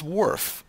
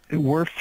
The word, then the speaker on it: WRF: to start what is worf how does it work worf is is how we pronounce the acronym wrf and these letters stand